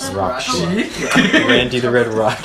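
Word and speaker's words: Rahkshi: I didn't read it right when I was reading the books, so I pronounced it Rashiki. How is it Until actually pronounced? several Rakshi.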